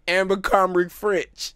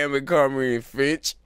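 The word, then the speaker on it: Abercrombie & Fitch: That shit sound like all shit you hear in Amber Comrie French. Man, you just gonna pronounce every store wrong.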